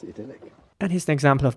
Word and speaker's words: idyll: The next word I want to discuss is spelled I-D-Y-L-L, and in British English, this would be pronounced idyll, with an E sound, idyll.